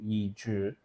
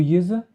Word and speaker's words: Yizhi: Wu Yizi? Yeah, but it's pronounced Yizhi. No, you're just showing off now. No, but it's true, man. Is it? It is. The Z-E but is all the Zhi.